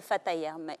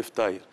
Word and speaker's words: ftaïr: nous avez même donné, ça s'appelle le fataïr. Oui, ça, c'est le ftaïr. C'est les beignets tunisiens, ftaïr. Le ftaïr. Oui, le ftaïr. D'accord, c'est la bonne prononciation.